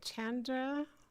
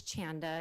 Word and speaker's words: Chanda: Okay, Chandra, and then Jackie Ball. And please correct me if I said your name incorrectly. Yeah, it's Chanda. It's exactly how it's spelled.